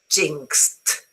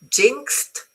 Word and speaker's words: jinxed: The pronunciation is jinxed with a T. Okay. While in this murder, the past is the, t, it, et. Very good. Murdered, the. So jinxed, because the last sound